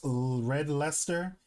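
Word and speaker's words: Red Leicester: Pronounced red leester because Ah, see that makes sense.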